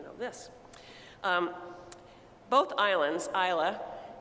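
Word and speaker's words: Islay: this um both Islands Isla and that is spelled by the way i-s-l-a-y if you go to the liquor store and you look at the kinds of scotch but they say Isla both Isla and Iona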